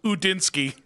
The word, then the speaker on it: Udinski: That's how you pronounce it. Yeah, obviously. Oh yeah, also it's Udinski.